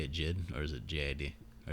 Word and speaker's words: JID: Is that how you say it, Jid, or is it JID, or does it matter?